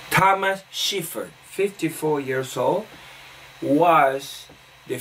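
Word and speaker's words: Schäfer: want to say that let me pronounce his name correctly because he has a German last name Thomas shivered 54 years old was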